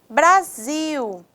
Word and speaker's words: Brasil: palavras oxítonas vejam bem Brasil Zil é uma sílaba que tem a tonicidade mais forte café fé é a